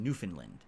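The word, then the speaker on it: Newfoundland: ever been to is New Foundland which is actually pronounced newfinland I don't know what Dwarf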